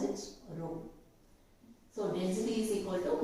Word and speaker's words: rho: How do you pronounce it? Rho.